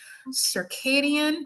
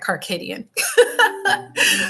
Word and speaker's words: circadian: is connected to your circadian. I know I said it wrong in one of my dream videos. I said Carcadian. Circadian rhythms.